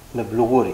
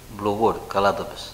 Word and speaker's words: Mplougouri: Happy Grilling everyone Happy grilling from me, too Preparation A totally wintery dish today, pork with groats "Mplougouri" (not "pligouri"), you said it right Yes, right This is